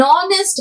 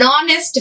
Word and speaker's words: honest: the role of silent we are saying an honest man oh next anar and r okay here we are not saying our hour is the wrong pronunciation and not an honest man an orange an egg so you are